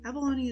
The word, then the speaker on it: abalone: something rich people know abalone is a snail and yes i had to look that up while it does rhyme with bologna it implies that bologna